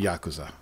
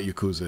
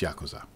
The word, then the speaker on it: Yakuza: six demo yeah kusa yeah it's it's actually Yakuza that's how you pronounce it it's not Yakuza it's Yakuza you downloaded the whole game and then you